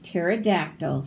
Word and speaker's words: pterodactyl: Ptolemy, the psychic pterodactyl, struggles with psoriasis. So all of these P's are silent. We don't say them.